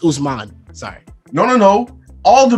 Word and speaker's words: Usman: Osman. Okay? Yeah, he pulled out the government. It's not your time. Say it right. It's Usman.